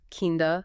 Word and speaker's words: kind of: of you mean how they're often pronounced as kinda sorta and Lotsa in casual speech it's important for English